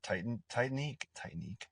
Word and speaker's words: Titanique: See him soon if you're lucky enough to get tickets for Titanique. I think that's Titanique. That's how you say it.